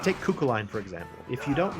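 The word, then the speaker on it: Cú Chulainn: And it's pronounced Cuchulainn.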